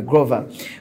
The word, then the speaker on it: Grover: He told me to pronounce it that way, Grover, who is a practicing